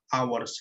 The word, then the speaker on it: hours: Kita lihat kata setelah a itu adalah hours, yang mana pengucapan adalah hours, sehingga ini menggunakan kalimat vokal, maka harusnya an bukan a.